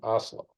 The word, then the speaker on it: Oslo: But the peace prize is given out at Oslo, which is how I am told I should be pronouncing Oslo.